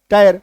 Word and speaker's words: tire: TIRE, टायर, मतलब IRE, position क्या है?